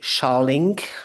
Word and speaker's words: shelling: It's shallink. So, it's flaking off more material sizes than spalling. How do I spell that? Shelling like like a shelling.